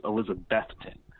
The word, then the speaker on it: Elizabethton: It's Elizabethton. You really, when you start to say that word, think of Beth, the name Beth. Someone, I was actually doing a little radio interview, a local ESPN affiliate about my trip, and I said Elizabethton, and they're like, nah, think of the Kiss song, Beth, classic power ballad.